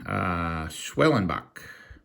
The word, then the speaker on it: Schwellenbach: Schwellenbach. Hey, I pronounced it right.